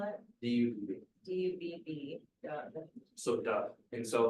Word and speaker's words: Dubb: How do you spell it? D-U-B.